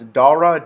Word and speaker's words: Dara: it is a hard name to remember guys Dara d-a-r-a Castro Shahi khasrow Shahi and I'm not going to spell that former Expedia CEO um yeah and here's